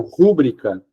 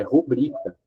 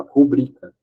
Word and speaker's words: rubrica: também existe essa palavrinha aqui ó muitas pessoas pronunciam rúbrica mas não é rúbrica é rubrica a silba tônica essa aqui ó rubrica e a CB tônica é a última aqui